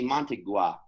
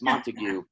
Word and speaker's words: Montague: It's also just like in writing how there's the Capulet and the Montague, you know? And look, I mispronounced that as well. My bad. It's Montague.